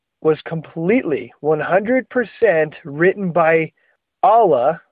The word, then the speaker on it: Allah: Okay, so just so you know, they believe that the Quran was completely 100% written by Allah, or sometimes you hear it pronounced Allah.